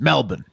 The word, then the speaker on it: Melbourne: Wes, please, it's Melbourne. Melbourne. Sorry, Melbourne. The R always gets me.